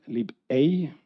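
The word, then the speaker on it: libei: we created something called lib a uh it's pronounced uh as you pronounce egg in German I'm not sure it's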